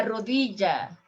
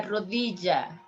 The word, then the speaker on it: rodilla: is this area here la rodilla la rodriga and you can hear la rodia la rodriga la rodicia three ways the sword la jaga